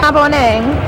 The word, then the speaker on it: Maboneng: Maboneng.